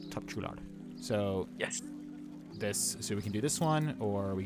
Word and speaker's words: Topçular: How do you pronounce that? Topçular. Topçular.